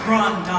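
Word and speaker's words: grande dame: Right, you got to say it right. It's Grand Dame.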